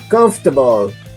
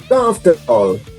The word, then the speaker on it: comfortable: In pronunciation here, we will eliminate letter O. So we will put together letters F and R. So we say comfortable. Comfortable.